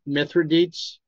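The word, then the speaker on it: Mithridates: Minor to his assistance now how do you pronounce this man's name myth mithradates mithradates mithradates set out for Egypt with an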